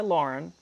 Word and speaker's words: Laughrun: My name is Lauren. Last name is spelled L A U G H R U N.